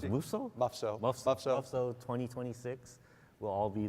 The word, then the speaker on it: MUFSO: MUFSO, how do you pronounce it? MUFSO? MUFSO.